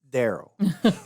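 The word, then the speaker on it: Darryl: was going to push the wrong button it's pronounced Daryl Daryl d a r r y l or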